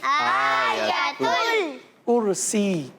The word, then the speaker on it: آیت الکرسی: آیت ال کیا پڑھیں گے؟ آیت الکرسی. الکرسی. صحیح. اچھا یہ کرسی نہیں ہے, کرسی ہے. ٹھیک ہے, اس کا تلفظ کیا, ایک ایک مرتبہ سب بتا دیں. جی عزیر. کرسی. آیا, آیت الکرسی. آیت ال نہیں ہے نا بیٹا, تل کر دیا نا آپ نے.